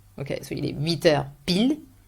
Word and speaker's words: pile: you would say 8h pile, that's the like 8 o'clock, 8 sharp. Okay, so il est 8h pile, you do not pronounce the final E, 8h et quart, 8h et demi, and then 9h moins le quart.